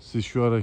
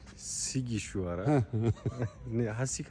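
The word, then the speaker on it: Sighișoara: Evet, Romanya'nın Sişuara kentindeyiz. Hakancığım ben bu Sişaray'yı tam olarak telaffuz edemiyorum. Doğrusunu söyler misin? Sikke ki şu ara terbiyesiz hiç geil olacaktı. Sigi şu ara sig hocam.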